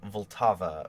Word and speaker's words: Vltava: In his own words, Smetana described the work this way, and he's saying Vltava for Moldau, because that's how you say it in that language.